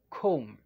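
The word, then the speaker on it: comb: another word we have com okay this is com okay take note guys that letter b is not pronounced in this word okay say it again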